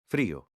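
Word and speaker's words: frío: a day this is how you say cold freyo now how do you say cold frio how do you say day dia let's see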